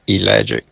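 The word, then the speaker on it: ellagic: It's spelled E L L A G I C. Elic acid.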